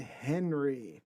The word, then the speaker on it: Henri: We'll say Henry, although I'm French, and it is Henri, but I tell Henri.